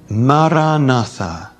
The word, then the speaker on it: Maranatha: you to use is the Aramaic word Maranatha say it in four equally stressed syllables foreign don't move